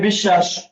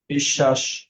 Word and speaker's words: বিশ্বাস: Same বিশ্বাস, বিশ্বাস। সকল শয়ের উচ্চারণ তাহলে অবশ্য এখানে তাহলে অবশ্য হয় বফলা, মাঝখানে আছে বিধায় কি হয়েছে, দ্বিত্ব হয়েছে, এটা ডাবল হয়েছে। বিশ্বাস।